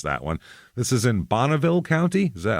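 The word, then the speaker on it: Bonneville: one this is in bonnaville county is that I'm going to say bonnaville because that's the car so I believe that is correct once Pontiac names a car after it that's how it's said sorry uh it is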